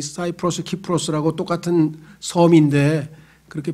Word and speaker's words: 키프로스: 이 사이프러스, 키프로스라고 똑같은 섬인데 그렇게 발음되는 이유는 그리스에서는 이 C자, 영어의 ABC 할 때 C자를 K로 발음해서 키프로스라고 하고요. 영어로 바뀌면은 이게 사이프러스에서 영어는 C를 사이프러스에서 붙입니다.